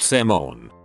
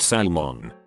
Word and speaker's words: salmon: different pronunciation and meaning silent letters omitting some letters in a word for example salmon is pronounced saman salmon salmon etc not Salman knife is not K